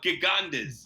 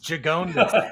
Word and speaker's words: Gigondas: I used to call it Gigandas. Gigondas. Gigondas. It sounds like Quijones or something.